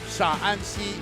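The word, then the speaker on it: Shaanxi: The one is Shanxi and the other one is Sha'anxi.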